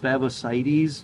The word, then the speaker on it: Favosites: about favosites and by the way it is pronounced favosites favosites is not plural that's the genus name so